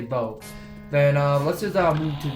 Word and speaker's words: Bow: Okay, so I think her name is Bo, because I did pronounce it Bao because I'm not even